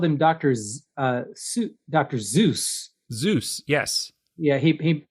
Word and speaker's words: Seuss: He he himself noted that it rhymed with voice, his own pronunciation being so.